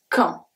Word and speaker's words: quand: Manger quand. Quand. The U is silent and the D is silent as well.